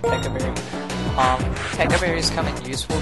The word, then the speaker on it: Pecha Berry: Alright, now as you can see, Centipede comes with a Pekka Berry, or Pecha Berry, or however you want to pronounce it. I pronounce it Pekka Berry.